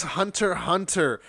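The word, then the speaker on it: Hunter × Hunter: um so this is hunter hunter you don't pronounce the x as far as i know it's like high school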